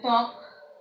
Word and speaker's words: ত্বক: অনুরূপভাবে দেখো যে ত্বক, আমরা এই বটা উচ্চারণ করি না।